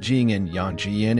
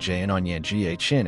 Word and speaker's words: Yangon: The name is pronounced Jian Yang in British English and Jian Yang in American English.